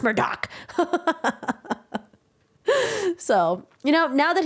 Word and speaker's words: Murdaugh: Alex murder Alex Murdoch people you're pronouncing his name wrong like what do you mean to pronounce exam wrong murder Alex like those are names that are not entrepreneurs people like no it's pronounced Murdock so you know now